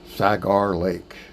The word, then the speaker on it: Sagar Lake: spot, and then visit Sagar Lake. Sounds like Sugar Lake, but it's spelled with A.